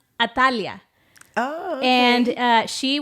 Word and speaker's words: Atalaya: you are and then in Hebrew so it's atalaya it's uh pronounced atalia oh okay and uh she was actually the